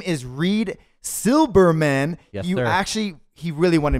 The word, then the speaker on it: Reed Silberman: and you need yes because your name is Reid Silberman yeah actually he really wanted me to make